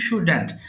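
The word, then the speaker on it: shouldn't: পড়বো হ্যাঁ নেগেটিভ ফর্মটা কি আছে শুডেন্ট তাহলে সুডেন্ট বলবা না কেউ উচ্চারণ হবে ইউ শুডেন্ট আই শুডেন্ট right আমায় লেখা উচিত নয় বলো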